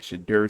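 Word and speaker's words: Shedeur: Shadur Sanders.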